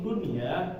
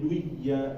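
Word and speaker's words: دنيا: pertama ayadriba masuk ayadriba Nah ini Dunya itu enggak masuk ya jadi jangan dibacanya menjadi duya duya nah tapi Dunya kemudian juga nun mati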